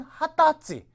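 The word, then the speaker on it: 二十歳: 기억해 주시는게 좋을 거 같아요 20세라고 그럴 때는 하다지 21일이라고 할 때는 하츠가 그다음에 또 1일이라고 할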